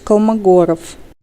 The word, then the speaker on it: Kolmogorov: So in English, you just say Kolmogorov, right? So, but in Russian, it sounds like more like, here, can we pronounce it? Андрей Николаевич Kolmogorov. Okay, it's pretty close, huh? It's not that different from how you say it in English.